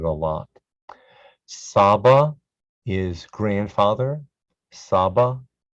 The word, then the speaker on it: Saba: Saba, Saba, rhymes with Abba, which is father.